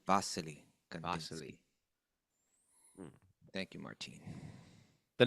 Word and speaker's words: Wassily: you pronounced the V you pronounce the W as a v i guess vasili vasili vasili vas thank you Martin